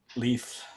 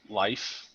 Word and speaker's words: Leif: character that's telling stories leaf leaf yeah see i didn't know i didn't know if it was supposed to pronounce it leaf or like life pressure sleeve yeah i mean